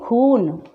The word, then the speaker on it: खून: बड़ा ऊ की मात्रा के लिए हम इसका उच्चारण कैसे करेंगे? खून, लूट, चूना।